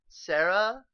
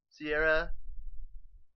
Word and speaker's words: Sierra: Sierra, I don't know how to pronounce her name either. I'm probably gonna get yelled at in the comments. Sarah. It's Sierra.